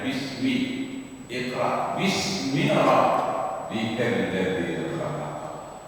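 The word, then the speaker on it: بسم: Ismi seharusnya tulisnya bi ismi, karena disambung langsung saja bacanya bismi.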